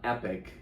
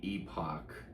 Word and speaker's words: Epoch: Some people say Epoch. But anyways, it's and they're an independent distributor that specialized in low-budget genre films. epoch. But but some people pronounce it epic. Both are acceptable.